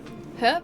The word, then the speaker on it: herb: I pronounce the age. Australians do. That's what she Wait, that's what she said. Herb or herb? Both. Both are good. Both are acceptable pronunciations. Neither are more correct than the other.